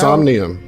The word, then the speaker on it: Somnium: Is it Somnian Spire or Somnire? I don't know how. Somnium. Somnium. Somnium. N I U M. Somnium.